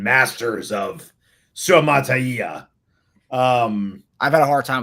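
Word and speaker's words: Suamataia: Say it again for the people in the comment section who are like pronunciation masters of Suamatai.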